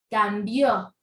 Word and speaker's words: cambió: lo son cambio cambió mire como aquí tenemos la tilde es de la sílaba tónica entonces mira sílaba tónica es Bio cambio entonces decimos Cómo toma la sílaba tónica es la última sílaba quiere decir que es aguda aguda luego tenemos el